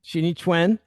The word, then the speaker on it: Xingyi Quan: Spirit, the classical text of I'm going to mispronounce it. Go ahead, you say it. Shini. Shini twin.